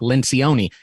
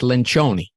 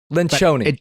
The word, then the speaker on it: Lencioni: friends call me Patrick Lencion, and I don't even correct them, but the actual Italian pronunciation is Lynchoni. Lynchoni, right?